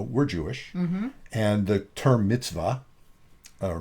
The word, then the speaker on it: mitzvah: So, as most of our listeners know, we're Jewish, and the term mitzvah, or mitzvah is often pronounced, the more Yiddish pronunciation, a mitzvah is often used sort of colloquially as a good deed, but that's not what it means.